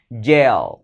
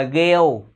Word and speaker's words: gel: moi nha các bạn gel Gel gel đừng đọc là Gil đừng đọc là nhiều